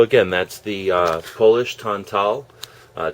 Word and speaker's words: tantal: So again, that's the uh Polish tantal uh t- a l. And I learned from some Polish people that that's pronounced tantal.